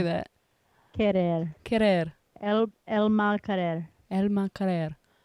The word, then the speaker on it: Querer: Elma Queer. Tasha, how do you say that? Querer.